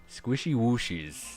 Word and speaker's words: squishy whooshies: like so so that squishy or squishy whooshies squishy whooshies that's how you pronounce it squishy whooshies is also